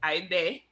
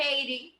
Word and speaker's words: Ide: She would prefer to have people call her by her middle name, which is Ide. Yes, not Haiti. Not Heidi. Right. Ide.